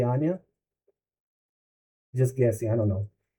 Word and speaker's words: Anja: Like Anya is written with a J, but you don't say Anja, you say Anya.